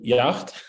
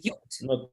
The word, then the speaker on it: yacht: money to eat delicious food, to ride on yacht, and to visit some luxury resorts. Yes, okay. All right. The big boat the smaller boat in English, it's called yacht. Yeah, let's pronounce it together. Yacht.